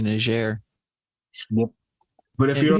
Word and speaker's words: Niger: Because if they speak French, then it's definitely Niger.